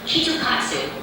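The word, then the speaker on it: きっと勝つ: means chocolate bar but in Japan Kit Kat is pronounced kitu KATU which means surely win it's a hopeful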